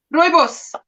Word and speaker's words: rooibos: How do you say it? Your tea, rubios? Rooibos. Rooibos. Yes.